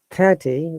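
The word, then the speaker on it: thirty: yeah yeah 30 yeah 30 we stress on the first syllable and I'm sure you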